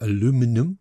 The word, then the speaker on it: aluminum: Just take a copper or aluminium or aluminum, whichever pronunciation you prefer, or you could just go rip the back off an old fridge.